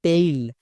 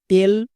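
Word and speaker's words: tail: করেও পেন বলবো না তাহলে আরো কয়েকটি ওয়ার্ড দেখো যেমন নিচের প্রত্যেকটি ওয়ার্ডে vowel blending word A আই আছে তার মানে এই সাউন্ড হবে যেমন টি এর জন্য টো এ আই এর জন্য এই এল এর জন্য লো কি হলো টেইল একই রকম ভাবে ডি এ আই এল ওয়াই ডেইলি এম এ আই N main একে আমরা ভুল করেও টেল ডেইলি বা মেন এরকম বলতে পারবো না বোঝা গেল তাহলে এ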